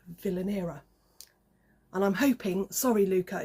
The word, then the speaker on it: Vilanera: a bag company called Villaina. And I'm hoping, sorry Luca, if I've if I've pronounced it wrong. I think it's Villainer. It's the way I pronounce it and I kind of